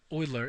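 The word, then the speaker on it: Euler: is done by oer many people in YouTube read this uler or something as far as I know oer is a correct pronunciation brilliant mathematician he just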